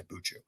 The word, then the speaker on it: Buchu: I pronounce it Buku. I think some people say Buchu.